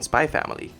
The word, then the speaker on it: Spy x Family: anduin Lin decided on spy family and then added the letter X in between the words like Hunter Hunter's logo and no you're not supposed to pronounce the X number 86 out of